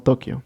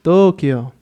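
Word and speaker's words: 東京: Tokio, haciendo la vocal larga en las dos O's que tenemos. Así que bueno, su adaptación al español ha cambiado un poco, quedando solamente como Tokio.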